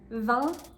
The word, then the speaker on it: vin: The correct pronunciations are blanc, vin, and son.